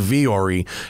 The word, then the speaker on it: Vuori: that's it's not spelled like it's sound it's pronounced vyori it's spelled vuori v u o r i